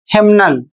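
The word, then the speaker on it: hymnal: और अगला शब्द है हेमनल। इसमें भी एन बोला जाएगा और एम भी बोला जाएगा।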